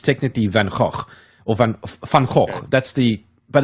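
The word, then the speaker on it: Van Gogh: tour guide said to us at least say vano but no the Americans they say van go yeah van go yeah that's American way man I didn't know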